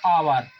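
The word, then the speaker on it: hour: तो और जिस भलाई ये काहे से प्रारंभ हुआ है, एच से, व्यंजन से प्रारंभ हुआ है, लेकिन इसका उच्चारण बच्चों और होता है, आवर, है ना, आवर।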